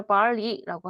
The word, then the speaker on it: barley: 얘가 아 발음인 것 같더라고요. 발리스. 빨리, 앨리스, 얘가 네, 벨리가 아니라 barley라고 하더라고요. 아 발음이라서 보리입니다.